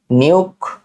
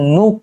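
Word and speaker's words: Nuuk: নিউক। নিউক না আসলে এটা হচ্ছে নুক। মানে একটু অদ্ভুত প্রোনাউন্সিয়েশনটা।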